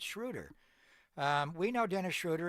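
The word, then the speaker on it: Schröder: He called him Schroeder. So, how well did you know your teammate, bro? It's Shruder.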